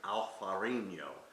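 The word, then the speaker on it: Alvarinho: called vino verde and we call the grape alfarino so very similar pronunciations but a little bit different in the spelling when we look at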